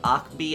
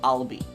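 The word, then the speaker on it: Ahlbi: You guys told me that I'm not supposed to say his name Akbi, I'm supposed to say his name Albie.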